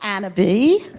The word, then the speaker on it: Annab: a little bit about Annab spelled like cannabis without the C, but we pronounce it the fancy French way. Of course, you're the Coco Chanel of cannabis, right? So, Annab, I'm the CEO of Annab.